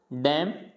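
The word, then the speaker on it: damn: नहीं प्रोनाउंस करना है, तो इसको पढ़ना है ऑटम डैम कॉलम, यानी कॉलमन नहीं पढ़ना, ऑटमन नहीं पढ़ना, डैमन नहीं पढ़ना, डैम, यानी एन को प्रोनाउंस नहीं करेंगे।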